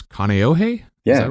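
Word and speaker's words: Kāneʻohe: And from what I understand, you were born and raised in Hawaii, and you'll have to help me with the pronunciation. I think it's Kaneohe?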